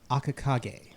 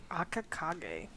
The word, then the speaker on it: Akakage: You've seen him before, and you know that he goes under the title of Akakage. So, Akakage. Akakage. For those who needing to spell it, it is AKAKAGE.